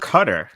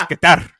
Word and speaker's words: Qatar: I thought it was Qatar. No. The World Cup is coming up. It's Qatar. If you want to get native, it's Qatar. Yeah, you got to roll that R at the end.